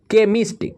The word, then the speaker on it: chemist: CHEMIST, केमिस्ट, केमिस्ट मतलब क्या होता है?